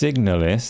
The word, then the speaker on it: Signalis: isn't it pronounced Signalis?